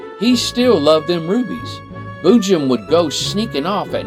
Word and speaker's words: boojum: now of course bujim b-o-o-j-u-m is pronounced boo Jim Boo Jim Boo Jim